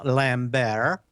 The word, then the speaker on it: Lambert: desk at drexel burnham lambert no T pronounced on that just like The Colbert Report prosecutors disclosed that he